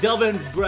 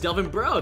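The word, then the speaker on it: Delvin Breaux: kept on pronouncing him Delvin BR I didn't know how to pronounce the X apparently it's just Delvin bro that's even cooler um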